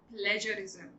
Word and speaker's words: plagiarism: My dear, it is called plagiarism. जी हाँ, तो आपको जी को ज ही बोलना है instead of ग.